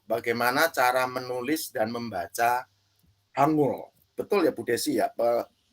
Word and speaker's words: Hangul: tentang langkah awal bagaimana cara menulis dan membaca Hangul. Betul ya Bu Desi ya? Pronunciation-nya ya? Bisa Pak, bisa. Hanggul.